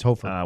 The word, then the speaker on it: Hofer: Hofer is how you say it? It's Hofer.